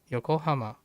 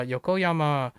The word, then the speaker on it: Yokoyama: I think it's Yoko Hama or Yokoyama. Uh Yokoyama.